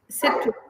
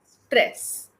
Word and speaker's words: stress: Okay, it is not citrus, it is stress.